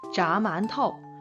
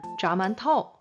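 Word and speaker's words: 炸馒头: 그래서 자만토, 자만토, 자만토 요렇게 발음을 해요.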